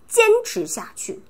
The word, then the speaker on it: 坚持下去: 그러면 坚持下去. 坚持下去. 저도 어동대 영상 찍기 싫어요. 근데 여러분 테이크 보면 坚持下去, 坚持下去. 또 한 번, 坚持下去. 다시, 坚持下去. 持 얘기할 때 혀 말으세요. 坚持下去. 去, 동그랗게.